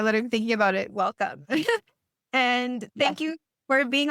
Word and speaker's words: Welcome: And then I just pronounced it WLC, but it sounds so much better when you say welcome.